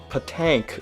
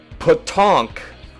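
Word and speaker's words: PaTaank: tall box version of patank for the 3do which that's that's not how it's pronounced you gotta read the back and it's the back of the box tells you how to pronounce it which is so stupid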